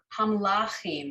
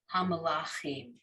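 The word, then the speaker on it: המלכים: So hamlachim, I put the emphasis in the lamed, the third syllable here, hamlachim, okay?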